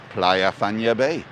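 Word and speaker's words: Playa Fañabé: a b and playa because the a's are pronounced a so it's not player it's pla and then fan yabe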